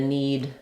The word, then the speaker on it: knead: just different spelling so the letter K is silent in these two words again you see we